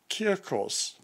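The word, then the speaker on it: κίρκος: instead of K's but it should be a very hard k or a hard C so and the OS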